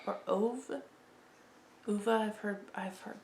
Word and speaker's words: Ove: stick with now called uva or ove uva i've heard i've heard so many um i when i first read that i heard man called of because it rhymes with love and that's always stuck